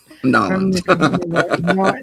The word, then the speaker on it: New Orleans: Force from New Orleans that's how you say it norleans New Orleans New Orleans yeah New Orleans or norleans or however it is you want to there's variations on it it don't say New Orleans because you sound like